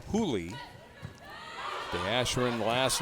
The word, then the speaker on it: Juli: It's spelled Julie, J U L I, but pronounced Julie.